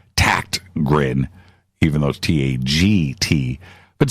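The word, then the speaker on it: Tägtgren: he gr en but it's pronounced like with a K that's how the Swedes do it tact grin even those ta GT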